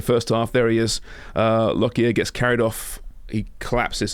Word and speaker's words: Lockyer: Lockyer? Lockyer, yeah.